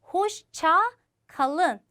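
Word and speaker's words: hoşça kalın: 천천히 발음해 보도록 할게요. 호시차 칼른 한 번 더.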